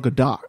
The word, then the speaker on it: Gadot: My hit list target is Gal Gadot. Gadot? I think that's Gadot. Gadot? Yeah. Gadot? Yeah. It's Gadot.